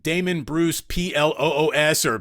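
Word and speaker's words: Plüs: Damon Bruce ploos or p-l-u with umlots so yes we say Damon Bruce plus and then once you get introduced once you become part of the initiated you understand it's actually pronounced Blues so we'll you know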